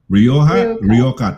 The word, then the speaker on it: Rioja: If you're basing it from yung J nagiging K. Di ba yung J nagiging K? So, yeah. Rioja is pronounced. Oh, Rioja.